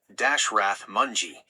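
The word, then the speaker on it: Dashrath Manjhi: In a remote village in India, there was a man named Dashrath Mji, pronounced Dashrath Mongji.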